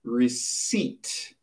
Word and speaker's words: receipt: So it is a receipt. Receipt. Listen to the pronunciation. The P is there, but the P is silent.